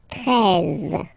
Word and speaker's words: treize: Then now, if you combine this E and E, you get the sound E, really open. Treize, treize. Final E, as usual, not pronounced. Treize, treize.